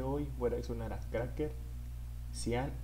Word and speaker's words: Craxxker: día de hoy voy a sonar a Cracker, Cian y The Street Boy. La canción se llama La Nota. Creo que se pronuncia Cracker, güey. Si no, no estoy cagando, pero es Cracker.